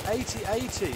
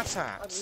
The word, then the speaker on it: AT-AT: It's 80-80. It's not I AT-AT.